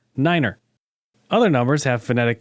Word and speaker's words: niner: the most famous is the number nine which is pronounced Niner other numbers have phonetic